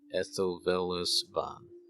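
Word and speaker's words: Ethilvelisvan: Ethelvelisvan.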